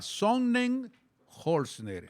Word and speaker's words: Sonnenholzner: revisando un poco el caminar, el andar, estaba más que practicaba yo por pronunciar bien el apellido. Por gusto, dele con Otto. No. Y practicaba Sonnenholzner.